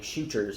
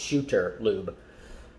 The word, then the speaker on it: Shooter Lube: it right this time my wife caught me often saying shooters it's not it's shooter lube so we started we